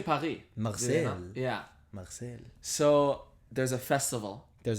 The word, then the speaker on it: Marseille: How do you pronounce it? Marseille.